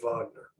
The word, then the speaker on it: Wagner: Wagner group out and it is pronounced Wagner because they were named